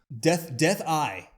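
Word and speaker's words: Dethl: Death Eye is how it's actually Death pronounced.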